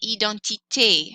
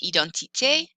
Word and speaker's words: identité: For example, identité has an accent aigu, and it happens on the letter E in French.